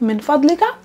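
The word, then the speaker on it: من فضلك: then the request okay let's try to pronounce it first min vadlika and if you're talking with a female mean fodliki rather than just simply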